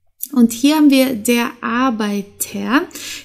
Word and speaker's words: Arbeiter: hier haben wir der Arbeiter hier spricht man spricht man das R wie ein a aus weil hier haben wir